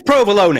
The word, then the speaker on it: provolone: Because for starters, it is provolone. It is provolone. Secondly, it's minestrone. So you're taking this from the man who can't say bolognese.